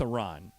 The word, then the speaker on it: Iran: You say you support the Iranian people, but you're pronouncing our country's name wrong. Our country is named Iran, not Iran.